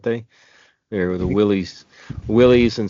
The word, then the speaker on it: Willys: They were the Willys Willys and some people say it's pronounced Willis, but to me it looks like Willys.